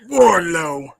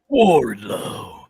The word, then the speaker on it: Wardlow: lethal yeah good lord you have to say it right warlow warlow this is dude he's